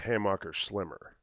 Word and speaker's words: Hammacher Schlemmer: into the annual they please pronounce this german name of this thing so I don't say it wrong again Hammacher Schlemmer Amaka yah is the best one well the website just says hey marker schlimmer is it supposed to